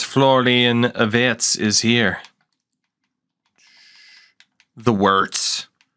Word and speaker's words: Wirtz: The Wirtz. I'm going to pronounce it with a V because I don't want it to remind me of Rocky Wirtz.